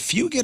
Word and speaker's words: Fugit: Patrick, is it Fugit the actor? Is it fugit or fugit? Cuz it's spelled like it's a kid from uh it's spelled like fug it.